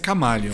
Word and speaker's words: Chamaleon: A pronúncia é Chamaleon.